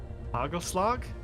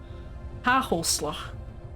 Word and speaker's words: Hagelslag: Hagelslag? You absolutely butchered it. Good job. Thank you. Hagelslag. Oh, right, the no GH thing.